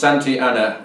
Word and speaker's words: Santa Anna: to tell me why it's pronounced santiana when it's written santa anna then i'd be glad